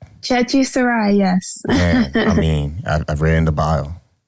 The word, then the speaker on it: Chechi Sarai: It's Chechi Sarai, right? Chechi Sarai, yes.